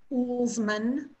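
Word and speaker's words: Uelsmann: His last name is pronounced Ullsman, and he was really,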